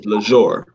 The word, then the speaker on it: Lesr: The only difference is I put the accent above the E and gave it more of a luxurious pronunciation, which is Lesr.